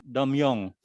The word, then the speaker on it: Tongmyong: Kemudian beliau sekarang pindah lagi kampusnya ke namanya Domyong. Tulisannya Tomyong tapi dibacanya Pak Rektor Domyong katanya dibacanya.